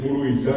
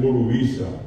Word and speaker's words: Burubizá: En vez de decir Burubizá, dicen Burubiza.